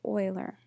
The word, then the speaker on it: Euler: circuits I know you think that it's pronounced Euler but it is pronounced Euler an Euler path is a path that visits